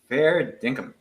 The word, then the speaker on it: fair dinkum: Fair dinkum. Pronounced perfectly.